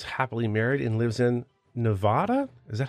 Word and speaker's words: Nevada: Austin Austin is happily married and lives in Nevada is that how you say it absolutely not what how do you say it Austin it's Nevada we had this we had this conversation before